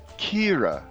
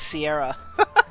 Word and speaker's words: Ciara: It's spelled like Sierra, but it's Kira. You approach the lavish villa where you will make your debut and knock on the door. And Kira says, smile, be charming,